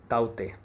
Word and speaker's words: Tauktae: And then बात करें बिल्कुल प्रेजेंट की, साइक्लोन ताउते। लिख हम रहे हैं TAUKTAE, बट it will be pronounced as ताउते। इसको हम ताउते कहेंगे।